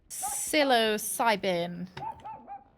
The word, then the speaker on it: psilocybin: Can they extract the psilocybin? That's how you pronounce it.